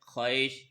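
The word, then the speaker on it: خواہش: silent है अलिफ बिल्कुल खवाहिश इसमें वाव साइलेंट होता है खश इसी तरह ख्वाब य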